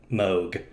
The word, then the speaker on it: Moog: mo blah blah speaking like how do you pronounce it they're like moog just said it wow that's how you found